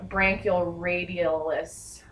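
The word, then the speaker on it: brachioradialis: All right, now I am going to perform reflexes on the bicep, the tricep, and the branchioradialis.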